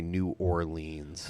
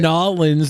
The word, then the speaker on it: New Orleans: with a boy so i hate it when people say new orleans why god damn it orleans yeah new orleans that's not how it's said how do you say it netherlands that's how uh my grandmother was in nollins and she saw paul